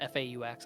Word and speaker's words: faux: I don't know if fox is how you pronounce that word, but F-A-U-X. I think it's like essentially Faux.